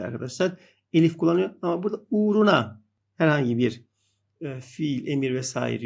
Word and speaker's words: uğruna: kullanmamaya çalışıyoruz arkadaşlar ua ama tabii uğruna şeklinde okuyoruz uğruna uğruna na derken o